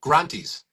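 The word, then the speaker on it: granthis: And there are these knots, and they're called granties, right? And so you pronounce it differently. You keep calling it grunty, which is like, that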